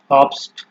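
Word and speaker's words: Obst: ওয়ার্ডের আপনার শেষে যখন থাকবে, তো তার উচ্চারণ নর্মাল যে আপনার এই এস টি আছে এর মতোই হবে, ঠিক আছে। নর্মাল ইংলিশে আপনার যেভাবে আমরা উচ্চারণ করি এস টি, এরকমই হবে একটা।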